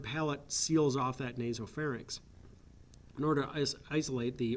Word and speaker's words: pharynx: that that is spelled it's not fair and nix its pharynx okay now from the